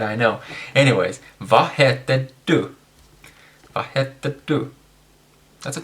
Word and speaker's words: du: Sorry, du, not du. Du is a bathroom, so don't say du. It's du. So anyways, I'll get scolded on that, I know. Anyways, vad heter du?